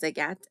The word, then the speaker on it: Agathe: Her name was Agathe, and she's the one that taught us how to pronounce it.